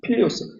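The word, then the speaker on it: Filius: 필리우스. F-I-L-I-U-S. F-I-L-I 발음대로 하면 됩니다. 라틴어로. F-I-L-I-U-S.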